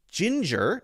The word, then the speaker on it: ginger: the rule is that if it's G followed by IE or Y it's going to be the soft G which has the same pronunciation as Jay right so this would be Jin which is the same pronunciation pronunciation as the one that starts with a J Ginger notice there are